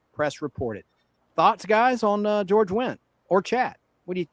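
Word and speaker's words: George Wendt: George went spelled with a D. The D is silent.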